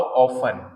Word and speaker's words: often: एक वर्ड होता है ओ एफ टी ई एन इसमें टी साइलेंट रहता है उसको बोलते हैं हाउ ऑफ हाउ ऑफ तो हाउ